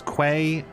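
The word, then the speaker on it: Qay: is key uh sorry q a y is pronounced key yeah it's just every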